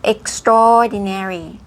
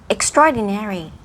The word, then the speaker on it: extraordinary: ใช่ extraordinary นะ คะ อ่า ออก เสียง ว่า extraordinary extraordinary โค อ่า คำ ถัด ไป Breath taking Breath